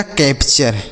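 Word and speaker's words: capture: तो यह हो गया कैप्चर। क्या लिखा गया मेरे भाई? कैप्चर। ठीक है? सी ए पी को कैप। टी यू आर ई को चर। लिखा गया कैप्चर।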